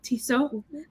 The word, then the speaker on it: Tissot: It's French, so Tissot.